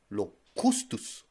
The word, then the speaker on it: locust: Man, in the Middle East, or in Africa, or in Asia, you could actually have locustus. Locustus, I think it's pronounced. Locustus. It's actually pronounced locust.